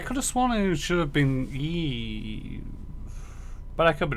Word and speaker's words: Eve: I told you it was Eve. Despite the fact that he pronounced it Eva.